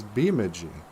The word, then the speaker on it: Bemidji: there's a lot of locals who call this place Bemidji I'm going to bemidj I I'm going to Bemidji